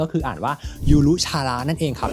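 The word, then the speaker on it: ゆるキャラ: เขา เลย นะ ครับ ก็ คือ อ่าน ว่า ยูรุ ชาระ นั่น เอง ครับ ที่ แปล ว่า มาสคอ เลย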